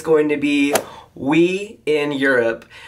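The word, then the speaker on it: oui: it's going to be We in Europe, which we, O-U-I, yes, in French, kind of a play on word, phonetically.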